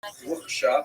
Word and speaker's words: Rothschild: So you just have to pronounce Rothschild like the Yiddish ches, that's a word.